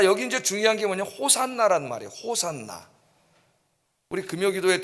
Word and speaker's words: 호산나: 호산나이 말을 이제 히브리어로 말하면은 호시아나가 됩니다. 호시아나. 호시아나가 돼. 호시아나. 그런데이 호시아나라는 히브리 말을 헬라식으로 발음하면은 호산나가 돼요.